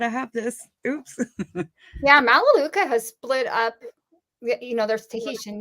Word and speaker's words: Melaleuca: Yeah, Melaleuca.